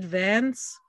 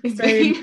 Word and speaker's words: Vane: Was it Vance who just kept talking about, Ned Hart, isn't that bad, not his name? Vane.